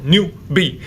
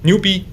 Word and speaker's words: 牛逼: So Chinese is monosyllabic language, so you want to make every syllable short, fast, and sharp. So let's just cut the new ending part and the B ending part, make it very short, 牛逼.